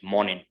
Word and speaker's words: morning: early again like morning you can see how i'm pronouncing in morning hour is before n so it is morning morning and again you